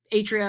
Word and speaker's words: atria: The atria, or the atria is the correct plural pronunciation, but the 2 atria here are basically like storage tanks.